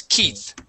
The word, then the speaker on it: Keith: of a boy okay that e that EI in the middle there makes a long e sound the word is Keith Keith yeah you were saying Keith it's keyth Keith okay one more time